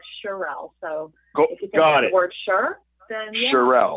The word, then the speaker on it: Cherelle: my name it's it's shirelle's but cheryl is kind of like the french version of it so awesome okay so